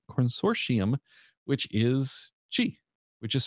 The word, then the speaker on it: Qi: source IAM which is chi which is spelled Qi by the way ya pronounce chi spelled Qi so it is now